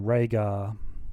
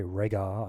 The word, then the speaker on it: Rehgar: all right uh so that was Nova and rhaegar sorry regar I keep saying his name wrong we're going to do